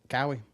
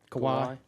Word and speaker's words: Kawhi: And then Cowie, Leonard? Kawhi. Oh, yeah. I seen that. Remember how you like how I call him Cowie, don't you? Yeah, I can't pronounce his name. It's Kawhi.